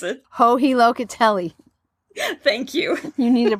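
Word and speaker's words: Joji Locatelli: Can you, do you pronounce it? Hohi Locatelli.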